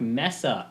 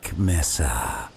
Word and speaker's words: Mesa: He says Black Mesa. Mesa. There's only one S in there, man.